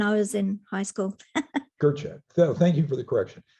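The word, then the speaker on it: Gøtzsche: Peter Gotcha is like Gotcha.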